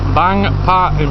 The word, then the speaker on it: Bang Pa-In: keep saying it wrong bang part in palace i was saying banged out palace it's bang bar palace which is in